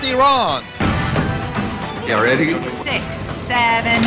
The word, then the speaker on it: Iran: is from iran excuse me pastor it's actually pronounced iran are you ready six seven eight let the